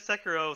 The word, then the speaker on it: Sekiro: Or, again, that's the actual name is Sekiro. So Ruthless, you'll be proud of me. I finally pronounced the samurai game properly.